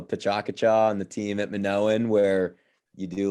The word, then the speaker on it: Minoan: Minoan?